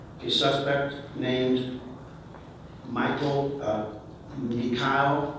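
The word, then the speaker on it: Meechaiel: suspect named Michael uh mik is the way he pronounces it spelled em as in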